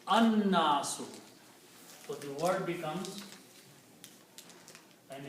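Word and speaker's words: الناس: away and it becomes al-nasu. The word becomes al-nasu. But when we try to read these together, noon is a shamsi letter, it kills the sound of lam. So you pronounce an-nasu.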